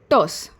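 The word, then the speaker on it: terse: Second is टस। आर यहाँ पर साइलेंट है, टस।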